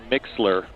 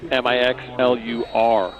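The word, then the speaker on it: Mixlr: by searching Metamora softball on mixler pronounced mix lur I'm sorry mix LR is uh with that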